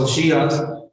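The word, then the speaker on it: הושע: Oseas, en hebreo se pronuncia Oshías, capítulo 1, del 1 al 10.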